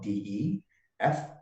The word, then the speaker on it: De Freitas: Last name is spelled DE. Freitas.